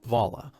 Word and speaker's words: Viola: my ongoing daily trauma vala the southern pronunciation of my name you run from